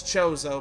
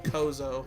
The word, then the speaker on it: Chozo: Like I still get Chozo and Kozo mixed up in Metroid games. And I know it's Chozo, but I don't know, bad habit. I always called him Kozo when I was a kid.